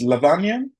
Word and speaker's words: Lavanya: It's Lavanya. Have I pronounced your name very well?